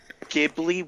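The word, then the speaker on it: Ghibli: uh right so would you call gibli with a G ji with a J normally normally not however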